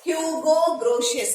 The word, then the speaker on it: Hugo Grotius: Pronounce it Hugo Grotius.